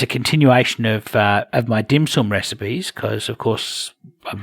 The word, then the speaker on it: dim sum: and it was called the dim sim ah of course that this is just Australians mispronouncing dim sum but so that so